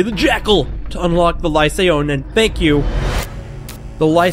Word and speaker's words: lycaon: the lie say own whoever the person who corrected my pronunciation I was like likened like the moss now somebody corrected my pronunciation of life sound for lie say on I'd been saying lichen cuz I had no